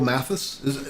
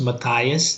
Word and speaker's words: Mathias: Yeah, Well, because of just the way how they emphasize on the syllables back home in India. But I know that MATH goes as math right. in US, so it's very common to hear Mathias.